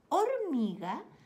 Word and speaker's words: hormiga: o les digo algo sabe que hormiga suena con o edad digo hormiga pero es una palabra un poco tramposa porque no sé que no se escribe con la letra o primero se escribe con la letra h saben que la letra